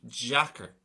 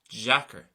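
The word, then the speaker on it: deacair: it's going to be jacker, jacker. So it's almost like a J pronunciation, a slurred, soft version because of the type of vowel that's on the letter D.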